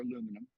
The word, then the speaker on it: aluminum: Oh, I will say a word that aluminium or aluminum, I'll take both, foil is mostly made of aluminum or aluminum, depending on your pronunciation.